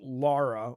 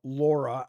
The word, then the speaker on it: Lara: The Brits always get mad. They're like, "You Americans don't know how to say it. It's l a r a. It's Lara Laura."